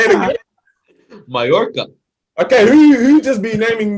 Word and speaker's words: Mallorca: Mallorca, bro. I'm missing. Anyways, thanks for joining us, guys. Hey, it's like tortilla. Everything 2 L's in Spanish. Is Bro, that's madness, bro. Hey, say it again. Mallorca.